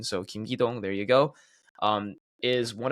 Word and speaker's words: Kim Ki-dong: Now, the FC Seoul manager, Kim Ki-dong, I know some people were having trouble with their pronunciation, so Kim Ki-dong, there you go, is one of the most respected managers in all of South Korea.